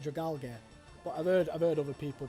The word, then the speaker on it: Dragalge: Dragalge. Is that how you pronounce it? Dragalge. Because it's Dragon Algae. So I call it Dragalge.